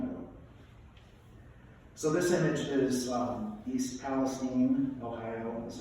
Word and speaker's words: East Palestine: So this image is East Palestine, Ohio, that's how it's pronounced, just a couple years ago.